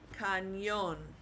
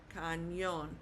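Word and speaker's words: cañón: Whenever you see that little t over an N, you're going to pronounce it like N Y. Okay? So, for example, think of the word canyon. So, when you pronounce canyon, you've got the N sound. Okay? However, in Spanish, it's going to be spelled like this. Canon. Canon. So, we're putting the stress on that O.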